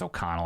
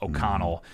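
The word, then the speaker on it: O'Connell: I don't think Aiden I think it's oconnell I keep get his name wrong OK Connell I don't think he's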